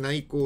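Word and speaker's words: 内訌: 内紛が起きますこれ内向と読みますが駿河に行く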